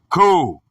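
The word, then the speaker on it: κύριος: The word is Kyrios, pronounced Ku-ri-os, from Kyros, supremacy, supreme, in authority.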